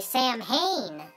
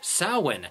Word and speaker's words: Samhain: the name of the character is inspired by sam hayne well actually little buddy it's pronounced samhain the ancient celtic festival of the dead which